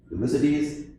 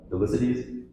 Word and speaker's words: Thucydides: A famous dean in Vanderbilt from 400 BC, Thucydides, did I pronounce that right, Thucydides?